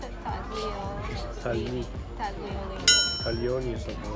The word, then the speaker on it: tagliolini: I think how would the Italian pronounce it? Taglini. Tagliolini.